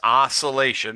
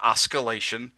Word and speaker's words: oscillation: It's oscillation, not oscalation.